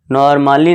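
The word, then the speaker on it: normally: यदि ए के बाद, अगर आपको किसी भी इंग्लिश वर्ड्स में ए के बाद डबल एल वाई दिख जाए तो ए क्या होगा, साइलेंट होगा। एग्जाम्पल देखिए, अब यहाँ देखिए नॉर्मली है, जैसे ही देखिए अब ए के बाद यहाँ क्या है, ए के बाद यहाँ डबल एल वाई है, तो यहाँ पे क्या होगा, ए साइलेंट होगा।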